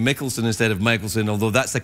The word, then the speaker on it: Michaelson: when I introduced ingred I said mikkelson instead of Michaelson now that's the way my people would pronounce it but apparently people around